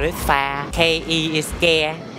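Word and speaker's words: phắc kẻ: F-A, we spell it pha. K-E is ke.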